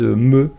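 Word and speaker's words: Mø: Puis j'étais toujours fan de la chanteuse Me, qui s'écrit M-O avec un O barré, et le O barré c'est un E.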